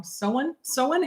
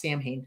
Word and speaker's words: Samhain: Sowen, happy Sowen. So, happy Sowen. Happy Halloween. So, and no, it's not pronounced Samhain.